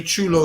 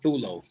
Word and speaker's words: Chulo: Whoever's in the back, Chulo spelled with a CH. Yes. Yeah, they got it down with a TU. Not Thulo. Can you spell it for them?